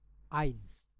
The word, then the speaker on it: eins: Eins, eins. Oke, harus teman-teman ingat. Jadi EI itu bacanya itu I. Jadi kita bilang eins.